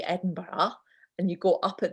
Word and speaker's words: Edinburgh: And Sarah, how would you pronounce our capital city? Edinburgh.